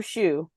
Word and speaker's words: Shue: It's his name is I don't know what his actual name is, but it's Andrew Shue is his name. Like shoe spelled like the thing you put on your foot.